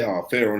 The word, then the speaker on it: Fearon: The Fearon family, we say, Fearon, especially how it's spelled.